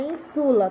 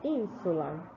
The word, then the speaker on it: ínsula: Não é insula, tá? É ínsula.